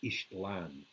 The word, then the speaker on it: Ixtlan: of the book, Journey to Ixtlan, but it's pronounced Ishtlan.